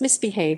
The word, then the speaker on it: MISBHV: pronounced misbehave is a polish streetwear label established by natalia maksec in 2014.